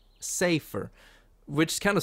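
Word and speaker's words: Seifer: Everyone calls him Cypher. And I'm not sure if that's the official pronunciation, but everybody says Cypher. And that never made sense to me, because it's not spelled with an A. It's say, a, Safer.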